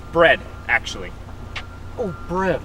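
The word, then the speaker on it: Bredd: partner bread right it's bread actually oh bread like the food no it's b r e d d the second D is silent oh that was the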